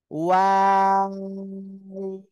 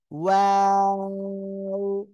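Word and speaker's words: واو: দুই ঠোঁট গোল করবেন। শুরুতেও গোল হবে, মাঝখানে দুই দিকে চলে যাবে, আবার শেষে এসে গোল হবে।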